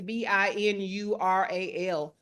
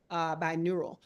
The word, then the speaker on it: binaural: So that I think that's BINURAL, binaural.